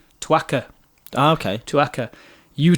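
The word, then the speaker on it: țuică: italian uh liqueur called i presume it's called pronounced twaka ah okay to akka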